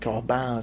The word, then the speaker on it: Corbin: that Quran you know Corbin is American pronunciation he's French is something like calm down something like that he really came up